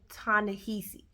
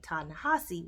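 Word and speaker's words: Ta-Nehisi: So I always pronounce his name Tanahesi. And then I looked it up and saw a couple interviews and they pronounced his name Tanahasi while he was there.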